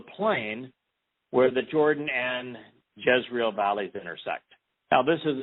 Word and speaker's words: Jezreel: It's spelled very similarly to Yisrael, but it's Yzrael, Jezreel, that we witness Deborah.